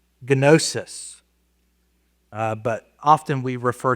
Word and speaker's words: gnosis: And I know in English we often will leave the G silent on if it's the beginning of a GN or something like that, but we pronounce it uh gnosis.